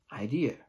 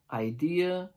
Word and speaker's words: idea: is you pronounce it idea the long answer and three tips as follows tip number one idea is a three syllable word idea second tip is